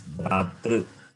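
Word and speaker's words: भ्रातृ: When you say true, it means you are rounding your lips, it becomes ukara. Okay. R is cerebral. Okay, it is Bratru.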